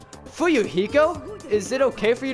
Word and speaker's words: Fuyuhiko: My last name is Kuzuhiro, and my first name is pronounced Fuyuhiko.